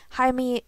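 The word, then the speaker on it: Jaime: is another soccer player I think that name would be pronounced H or Jamie if you're American but hi me Alice and I'm drawing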